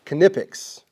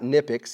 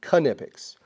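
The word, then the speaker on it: Knipex: 12 months so this is a company called kipic yes that's the proper way of pronouncing not niic it's called It's pronounced kipic go to their website it'll teach you anyway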